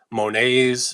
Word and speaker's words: Monet: Monets are in there, Renoir, all these famous artists that don't pronounce the T at the end of their name.